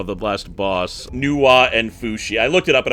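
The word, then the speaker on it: Fuxi: The last boss, Nua and Fushi. I looked it up. It apparently is pronounced Fushi.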